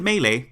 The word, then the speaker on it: melee: we begin first note I pronounce it melee because that's how it's pronounced in super smash brothers melee and if that's not